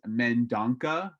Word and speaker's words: Mendonca: so we just know well i guess the anglo-sized version the one that i go with is mendanka but it's a it's a portuguese descent so so it's a